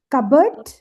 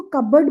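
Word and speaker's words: cupboard: है जैसे कबर्ड है कबर्ड ओके जैसे हम कप और बोर्ड नहीं बोल सकते उसको कबर्ड बोलते क्योंकि एंड दैट इज वेरीेंट क्योंकि हम यहां पे इंग्लिश लैंग्वेज देने जा रहे हैं।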